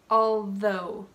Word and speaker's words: although: in order to sound more formal I recommend pronouncing it subtly always all right already although let me repeat those notice that my tongue